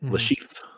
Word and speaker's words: Le Chiffre: I keep mispronouncing it, but he's the villain from Casino Royale. Yep, Le Chiffre.